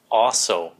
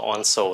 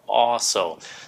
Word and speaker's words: also: phát âm cũng gần giống như vậy chữ also so Làm ơn đừ có phát âm là ons nha không phải là ons nó là also so Nếu các bạn muốn cho nó đơn